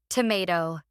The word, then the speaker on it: tomato: Tomato. Tomato. No, it's tomato. Wait, that's the big difference. May versus ma.